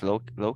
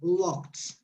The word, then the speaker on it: locked: office the door is locked be careful with pronunciation locked locked with a t because the previous sound is so locked good okay number three